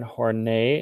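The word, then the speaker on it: Horney: our next one is karen hornay is how you say her name she stressed the importance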